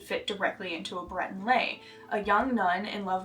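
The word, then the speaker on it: lai: and it is lay spelled l a i but pronounced lay like lay down and it refers to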